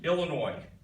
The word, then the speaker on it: Illinois: with his tongue the other state with a silent s Illinois bad weather high unemployment